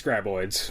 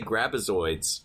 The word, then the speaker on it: Graboids: So I think Tremors is due to see some space graboids. There we go, graboids. Okay, I was about to mispronounce it again.